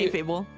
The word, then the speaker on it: kayfabe: The fabe part is pronounced like fail, but with a B instead of an I. Fable? Alright, Fable. Okay. Yeah, Thank you. K-Fable.